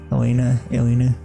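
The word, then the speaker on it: Alina: It's spelled A-L-I-N-A, Elena.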